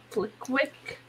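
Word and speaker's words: Flitwick: also like the guy that plays flick wait flick quick that's how you say his name yeah um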